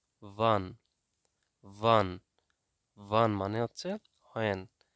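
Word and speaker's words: wann: দেন হয়েন, হয়েনকে জার্মানিতে উচ্চারণ করা হয়, বলা হয় ভান, ভান, ভান।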